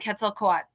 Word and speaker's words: Quetzalcoatl: And I'm like, yeah, and Quetzalcoatl.